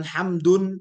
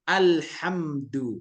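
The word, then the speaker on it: الحمد: dia enggak tanwin maka bacanya bukan hamdun tapi alhamdu enggak pakai tanwin kenapa enggak pakai tanwin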